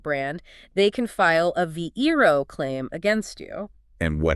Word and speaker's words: VeRO: V E R O, pronounced VeRO.